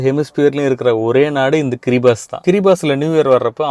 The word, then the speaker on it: Kiribati: உலகத்திலே first new year கொண்டாட போற நாடு கிரிபாஸ். ஸ்பெல்லிங் பார்த்தா கிரிபாட்டி மாதிரி தான் இருக்கும், ஆனா அவங்க ஊர் கில்பர்டீஸ் லாங்குவேஜ்ல TI இருந்தா எஸ்ஸா ப்ரொனவுன்ஸ் பண்ணுவாங்க.